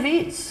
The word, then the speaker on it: Viets: in ashtabula county ohio he was of german ancestry so that's the pronunciation of his name the ie in german is an e sound his father rodney beets